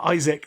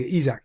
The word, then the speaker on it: Isak: doesn't realize is um Isaac I can never say his name right Isaac Isaac Isaac that's it I think isak is there it just